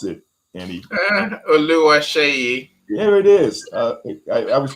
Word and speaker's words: Oluwaseyi: And we always say Olu, but if we pronounce the entire name, how would you pronounce it, Annie? Oluwaseyi.